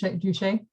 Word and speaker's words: Duce: Duce.